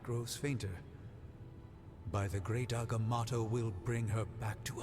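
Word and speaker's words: Agamotto: fainter by the great agamato will bring her back to us is that how you pronounce it I've been pronouncing that wrong by doing the film as well agamoto and here I thought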